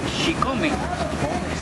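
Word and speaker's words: chicome: te mencionaba porque Xicome, el número 7, se pronuncia Xicome.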